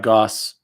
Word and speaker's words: Gosse: my name is goss i write books for children my last name rhymes with sauce i'm here you're in